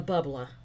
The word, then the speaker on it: bubbler: where I grew up the word for the water fountain was the bubbla b-u-b-b-l-e-r that's how you said it I'm not saying it